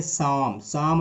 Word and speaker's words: Psalm: यहाँ पर P silent है, इसको पढ़ेंगे सम ऑफ लाइफ।